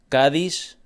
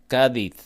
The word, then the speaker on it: Cádiz: And a city called Cádiz, they would say Cádiz.